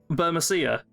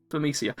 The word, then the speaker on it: Burmecia: Burmacia. How do you pronounce it? Burmecia? Burmecia. Honestly, I'm fine with either of them.